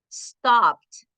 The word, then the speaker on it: stopped: Stopped, la primerita, stopped, planned, planned. No suena completo la ed, suena de, stopped, planned, tried, carried, played, enjoyed.